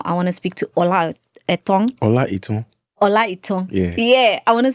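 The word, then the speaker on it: Olaitan: Olaiton. Olaiton. Yeah. Did I pronounce it correctly?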